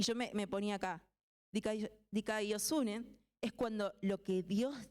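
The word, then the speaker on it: δικαιοσύνη: Pero se pronuncia dikaiosune.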